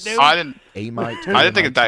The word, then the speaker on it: Amite: that, and how do you what did it pronounce do? I didn't. Amite? I didn't think it'd die Amite, fast.